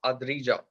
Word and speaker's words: Adrija: Okay, and your name is pronounced as Adrija.